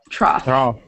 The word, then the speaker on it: trough: Trough. It's trough. The off sound.